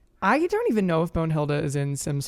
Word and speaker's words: Bonehilda: Bonahilda? Don Lothario. Oh, Bonehilda.